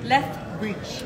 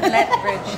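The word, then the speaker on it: Lethbridge: let bridge ba tomorrow what they pronounce lege left left bridge not late not le bridge not natin sa South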